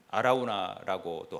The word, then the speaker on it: 아라우나: 하나님께서 이 오르난은 다른 발음으로 하면 아라우나라고도 하잖아요.